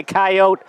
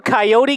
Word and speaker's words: Coyote: to ask you this are you a coyote guy or do you pronounce it coyote because you can pronounce it both ways well i don't pronounce